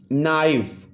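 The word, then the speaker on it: knife: तो इसमें के साइलेंट है, के is silent in the word नाइफ।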